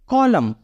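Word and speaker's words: column: पहले एम है और हमारा फार्मूला बोलता है कि अगर एन के पहले एम हो तो एन का उच्चारण नहीं होता इसलिए हम इसको पढ़ेंगे लम क्या पढ़ेंगे कॉलम कॉलम मींस कतार नेक्स्ट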